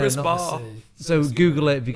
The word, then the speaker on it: CRISPR: If any listeners haven't heard about it, CRISPR is spelled CRISPR. Oh, so not like whisper. No, CRISPR.